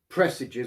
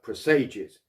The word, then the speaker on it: presages: line of each paragraph pressages or presages no one can quite agree on the correct pronunciation of this these days i prefer presages because like presado in the italian it has a more melancholy ring to it but anyway